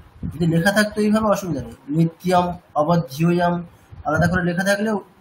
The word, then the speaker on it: নিত্যম অবধ্যম: নিত্য অবধ্যম আমি just pronounce করতে মানে যাতে সুবিধা হয় তার জন্য বলে আলাদা করে দিচ্ছি। আপনি নিত্যটাকে আলাদা করবেন, ঠিক আছে? নিত্য অবধ্যম, নিত্যম অবধ্যম এরকম না, নিত্যম অবধ্যম।